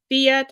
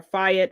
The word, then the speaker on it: Fiat: Abarth, Alfa Romeo or Romeo, Chrysler, Citroen, Dodge, DS Automobiles, Fiat or Fiat, I've heard it pronounced both ways, Jeep, Lancia, Maserati, Opel,